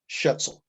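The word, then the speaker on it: Schaetzl: michigan and his last name is spelled s-c-h-a-e-t-z-l shetzel i have a chapter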